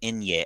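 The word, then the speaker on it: eñe: It's an Inye. Well, the letter, it's like a specific letter in Spanish. It's called Inye.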